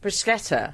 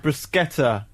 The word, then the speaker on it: bruschetta: In Italian, bruschetta has a hard C and is pronounced with a sk, not a sh sound. If it didn't have a h, it would be soft. Bruschetta. Bruschetta.